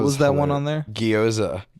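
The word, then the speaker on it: gyoza: Guoza. Goza. That's fine. It's guzza.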